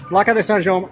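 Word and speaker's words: Plaça de Sant Jaume: So yes, this is Plaad Sanj. I believe I'm pronouncing that correctly, but the name is in Catalan. It's not in Spanish. If it was in Spanish, it'd be Plaad Sanheime.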